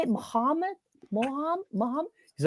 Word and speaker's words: Muhammad: And he's like, "Muhammad." And she's like, "Muhamad." Muhammad. She's like pronouncing it weird.